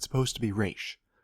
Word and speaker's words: Ra's: I don't care if it's supposed to be Raish. Raz sounds cooler, and I think is how most people read it.